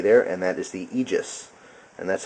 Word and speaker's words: Aegis: you can see there and that is the egis and that's how that's pronounced AE g- s is egis I believe um it's a Greek word for